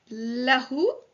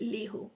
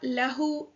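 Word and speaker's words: لَهُ: So we don't say lihu because it is difficult to say lihu, right? So for ease of pronunciation, the kasra on the li is changed to a fatha.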